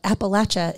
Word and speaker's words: Appalachia: Elaine who taught me that Appalachia is the right way to say it like if you say it wrong I'll throw an Apple